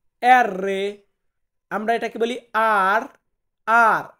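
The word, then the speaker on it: R: তারপর আছে এর রে, এর রে, আমরা এটাকে বলি আর, আর, আর কে আমরা বলবো এর রে।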